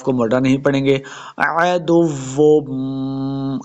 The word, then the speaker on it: عدو: موٹا نہیں پڑھیں گے، عدو، عین کو تلفظ سے پڑھنا ہے، عدو، واو مشدد ہے، دال کو واو کے ساتھ ملانا ہے، عدو، آگے پھر